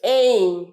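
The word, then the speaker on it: aim: in life লক্ষ্যর ইংরেজি এই উচ্চারণটা কি হবে বলতো এম নয় এই বলো আমার সাথে এই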